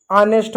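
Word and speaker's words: honest: विशेषकर हनेस्ट, आवर जैसे शब्दों में यानी कुछ शब्दों में एच साइलेंट होता है। यह एच का उच्चारण बहुत ही कम किया जाता है। बहुत ही हल्का पढ़ा जाता है। जैसे इसको आवर पढ़ेंगे, ऑनेस्ट पढ़ेंगे, घोस्ट इसको पढ़ेंगे।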